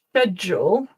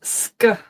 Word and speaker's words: schedule: So it can either be schedule if you're traditionally in British English this is like sh schedule as in the sh in shoes schedule. In North American English, it is sked.